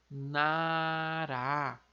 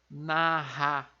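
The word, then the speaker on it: 나라: Como ele está na segunda sílaba, ele tem aquele som de R lá de arara. Então fica nará, nará. Vejam que não é narra, narra, não.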